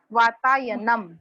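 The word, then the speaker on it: वातायनम्: वो हाँ, मह नहीं बोलना है, म। वातायनम।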